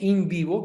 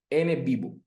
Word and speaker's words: NVivo: Por, al igual que InVivo, que es otro software de análisis cualitativo, se escribe así, NVivo. N, la letra N, y, y con B pequeña, Vivo. Con las dos B pequeñas, Vivo. NVivo.